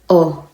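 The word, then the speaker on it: を: sentence we use the particle o so it's w but it is pronounced as o as a particle it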